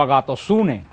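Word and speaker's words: ἀγαθωσύνη: La Biblia se pronuncia como agatosune, que se pronuncia en griego la palabra bondad.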